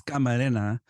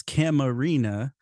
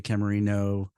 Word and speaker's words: Camarena: I know I I my last name is you know Hispanic origin in Spanish it's kamarena and then in English it's camarina but a lot of times people mispronounce it they'll say Camarino or or Cameron I'll be Kirk Cameron sometimes so it really depends